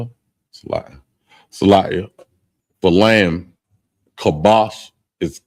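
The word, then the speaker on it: כבש: Oh, I spell it. Salia for lamb. Kabash is k a b a h.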